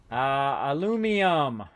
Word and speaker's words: aluminum: Aluminum. Aluminium. Aluminium. That's how they say it. Yeah, aluminium as opposed to aluminum.